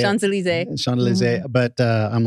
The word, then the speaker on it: Champs-Élysées: Champs-Élysées.